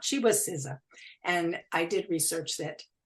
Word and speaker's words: SZA: So I think her name is pronounced SZA. Her name is spelled SZA.